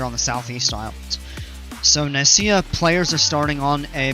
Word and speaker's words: Nicaea: It's Nicaea, pronounced incorrectly by my stupid brain every time.